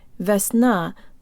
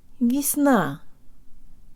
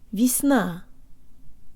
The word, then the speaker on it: весна: Russian mouth position and to de-emphasize the first syllable. It's not Весна, but Jo tang lips. Весна. Весна.